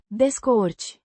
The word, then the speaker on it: descurci: Pronounced Descurci. with stress on the second syllable.